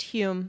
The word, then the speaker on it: Home: It's spelled Home for some reason. Yeah, but it's pronounced Hume.